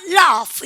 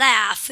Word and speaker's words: laugh: laugh예요. 여러분들 GH 발음 F 발음 하시고요. 여러분들 영국 애들 만나면 어떡합니까? laugh 이래요. 미국 애들 만나면 laugh 이렇게 얘기해요. 발음은 영국 애들이고 에 발음은 미국이랑 북미 쪽 애들이고요.